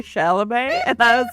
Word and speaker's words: Chalamet: make fun of ballet if both of your names rhyme with it. Timothy Ballet Chalamet.